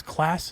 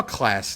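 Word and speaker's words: Clase: I think it's Class is how you say his last name, and Liam Hendricks are your top 6/5.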